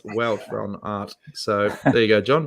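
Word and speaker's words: Wout van Aert: on pronouncing flemish names not root but welt plan art pronounced welt from art so there you go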